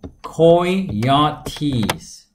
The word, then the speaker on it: coyotes: Well, we have many predators such as eagles and coyotes. 가장 일반적인 발음이에요. 아까 우리 카야리 뭐 여러 가지 있었죠. 카얏도 있었고, 하지만 coyotes라고 읽는 게 여러분 발음하기엔 제일 낫습니다.